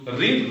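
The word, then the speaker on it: read: यदि तुम पढ़ते, यू रीड रेड, इफ यू रेड, spelling वही है लेकिन ऐसे पढ़ेंगे तो तुम पास होते।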